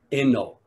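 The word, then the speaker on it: 慧能: In Japanese, his name is pronounced Eno, or Dokuso Eno, Dokuso, the sixth patriarch Eno.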